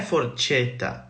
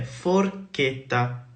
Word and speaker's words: forchetta: E un altro esempio è la parola forchetta, non è forcetta, è forchetta, va bene? Quindi, se in qualsiasi sillaba italiana, se c'è un H in mezzo, questa sillaba avrà un suono duro, ok?